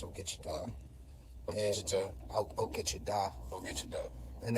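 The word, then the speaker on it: ogichidaa: It's pronounced Ogichita.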